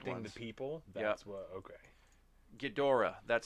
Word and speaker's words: Ghidorah: the old ones the people that's what okay ghidorah that's how you say it king ghidorah the